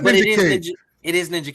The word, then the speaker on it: Ninjak: that I don't know if you know, but Ninja K. Ninja? Yes, that's what it is. It's fucking Ninjak. It's not but Ninja K.